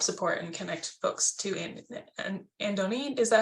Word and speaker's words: Andony: love to help support and connect folks to Andony.